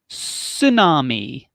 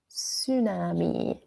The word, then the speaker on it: tsunami: we have a tsunami notice the T is silent tsunami tsunami what is a tsunami